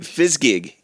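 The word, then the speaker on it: Fizzgig: Fsgig.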